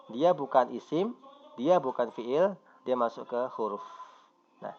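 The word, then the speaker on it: فعل: Atau kita mudah bacanya fi'il.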